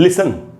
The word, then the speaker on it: listen: जैसे ये वर्ड है दोस्तों लिसन, लिसन का मतलब सुनना, LISTEN, तो ये STEN वाले ग्रुप में आ गया लिसन।